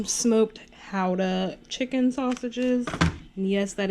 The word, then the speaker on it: Gouda: Smoked Gouda chicken sausages. And yes, that is how it's pronounced.